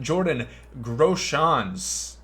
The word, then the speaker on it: Jordan Groshans: We're going to have Jordan Groshans. That's how you pronounce it.